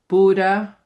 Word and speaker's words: bordet: For example, et bord, bordet, but we don't pronounce the t, right?